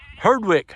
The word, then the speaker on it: Herdwick: Could you pronounce that a little slower? Yeah, so Herdwick.